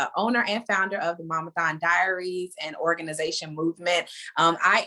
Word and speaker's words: Momathon: She is the owner and founder of Momathon. I pronounced it right, Momathon?